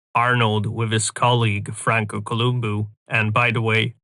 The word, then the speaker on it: Columbu: In this picture, we have Arnold with his colleague Franco Columbu. And by the way, I pronounce his last name this way because he was Italian from Sardinia and it's actually pronounced that way.